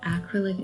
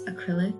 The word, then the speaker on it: acrylic: So generally, when you're doing acrylic painting, apparently I was pronouncing that wrong. It's not acrylic, it's acrylic.